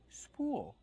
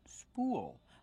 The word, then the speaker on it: spool: do we pronounce spool spool we pronounce with a long ooh plus a dark L spool like cool and pool this is a spool